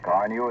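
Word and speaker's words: Carnu: Car New is spelled C-A-R-N-U.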